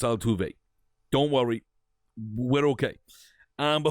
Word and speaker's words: Altuve: You get Jose Altuve, former.